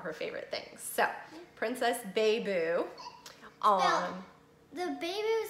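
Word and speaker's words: Baiboo: So, Princess Beiboo. The Beiboo is spelled B-A-I-B-O-O. B-O-O. There you go. Everyone thinks it's Princess Baby. Baby? No. Some people do.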